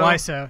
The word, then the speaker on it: Wiseau: Tommy, is it Wiseau? Wiseau. Yeah. That's how you pronounce it.